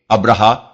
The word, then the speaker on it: ابرہہ: مورخین ابراہام لکھتے ہیں۔ ابرہا غالباً اسی کا حبشی تلفظ ہے کیونکہ عربی میں تو اس کا تلفظ ابراہیم ہے۔ یہ شخص رفتہ رفتہ